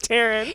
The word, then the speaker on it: Taryne: It's because she knows it's Taryne.